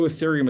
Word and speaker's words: Ethereum: and i'm going to spell that for you e-t-h-e-r-e-u-m it's pronounced ethereum if you only buy one crypto